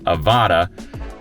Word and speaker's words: Avata: the DJI Avata, that's how you say it, Avata, is going to be released on August 25th at 9 a.m.